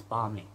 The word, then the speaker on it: balmy: I realize although there is an L, although the L is silent and it's balmy.